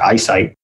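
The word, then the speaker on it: IC ITE: They pronounce it ISITE, with a focus on the technical foundations that Mike outlined above.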